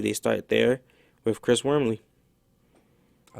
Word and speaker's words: Wormley: NFL draft the Tennessee Titans select uh Chris Wormley did I pronounce his name right yeah to Tennessee Titans